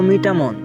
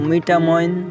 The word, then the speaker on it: মিঠামইন: তার মধ্যে মিঠামন আর মিঠামইন বা মিঠামন বলে উচ্চারণ করে থাকেন।